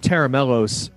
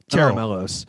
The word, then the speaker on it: Tera Melos: It's so stressful to me, you know, like when we named Tera Melos, I remember at the time the concept was